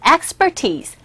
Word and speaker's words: expertise: expertise가 여기서 전문 지식이나 전문 기술을 뜻함으로써 expertise, expertise 첫 번째 강세 expertise, expertise 첫 번째 강세 주셔서 발음을 해주시면 되겠습니다.